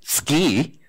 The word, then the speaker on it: SCI: SC I especially since Chris this morning told me I have to pronounce it ski and what I'd like